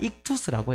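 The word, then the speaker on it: ΙΧΘΥΣ: 옛날에 고대 그리스어로 이제 쓰였던 건데, 이것을 발음 그대로 읽으면 어떤 발음이냐면, 익투스라고 해요.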